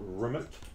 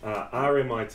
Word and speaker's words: RMIT: Business and Law at RMIT University in Melbourne, Australia. Not RMIT or RMIT or anything that a frog sounds like. RMIT. It's like I like to say MIT in Boston.